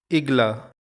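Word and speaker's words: игла: Stress is on the second syllable. Igla.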